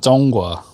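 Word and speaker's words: 中华: And Zhonghua is how you say China, and that means like the center.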